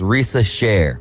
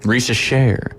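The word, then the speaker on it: Risacher: Sila mispronounced it is Risa Sher rysa share that makes sense it's got the French inflection there so share on the end of that obviously he was kind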